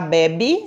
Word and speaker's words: bebe: bebe o bebê já bebe suco de frutas tão primeiro a palavra acentuada o bebê com são fechado bebe um som aberto e a sílaba mais